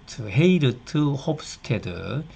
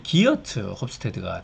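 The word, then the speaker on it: Geert Hofstede: 헤르이트 홉스테더, 이제 네덜란드 사람인데 네덜란드식으로 가깝게 발음하면 헤이르트 홉스테드, 영어로 쓰면 이제 기어트 홉스테드가 되겠는데요.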